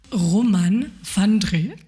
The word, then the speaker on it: Roman Vandré: Romane van Dree, c'est bien prononcé ?